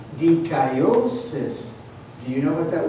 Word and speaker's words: dikaiosis: in the Greek language, is spelled D-I-K-I-O, and now we add the suffix S-I-S, and is pronounced dikaiosis.